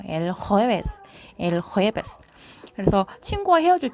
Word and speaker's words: el jueves: el jueves. 요 그 호따 발음이 그냥 영어처럼 J 발음이 아니고 헛다 이제 약간은 목을 긁는 소리가 나잖아요. el jueves.